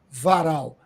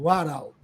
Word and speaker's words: Warao: em especial os Warau, que eu pronunciava errado. Não, pronunciava Varal. Agora eu aprendi com o Jonildo Warau.